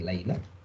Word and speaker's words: Laila: Laila kalau orang Arab bacanya ini Laila.